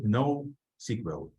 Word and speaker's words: NoSQL: postgres ql and finally no SQL no SQL not only SQL but usually it's pronounced nosql this is something that